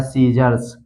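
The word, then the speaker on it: scissors: इसी तरह है डिसिपल, इसी तरह है सीजर्स, इसी तरह है साइंस, मसल्स, सीड, तो इन सभी वर्ड में आप देख सकते हैं यहाँ पर यस के बाद आया है सी, इसलिए सी का उच्चारण नहीं किया गया है, सी साइलेंट है।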